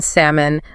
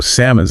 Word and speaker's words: salmon: The P in receipt, the L in salmon, the B in climbing. Oh, salmon's a good one.